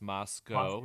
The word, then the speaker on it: Moscow: in idaho last week in uh it's spelled moscow but it's pronounced moscow don't get it wrong or they'll get no